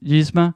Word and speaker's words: Yzma: And then kind of the last one I'll mention is, I think I'm going to mispronounce her name, Yzma.